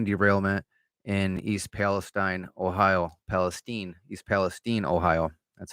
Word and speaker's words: East Palestine: East Palestine, Ohio.